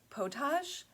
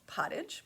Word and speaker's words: pottage: First of all, pottage, I thought it was potage. Maybe that's how you pronounce it in French, but I did look it up to make sure, and it's pottage.